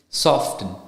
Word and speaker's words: soften: whistle thistle bule Hazen soften right the T soft soften then it's rapo not raport right same thing with gome